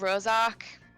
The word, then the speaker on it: Rorschach: Ravi, surely you must understand that this isn't a legitimate I'm not sure how to pronounce that. Rorschach, It's just called Rorschach.